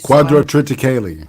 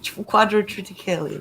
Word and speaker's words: quadrotriticale: a load of grain that I never could pronounce properly. Quadrotriticale. Quadrotriticale, that's right.